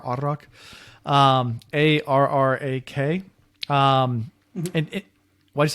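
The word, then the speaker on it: arrak: um it's pronounced uh you roll the r arak um a-r-r-a-k um and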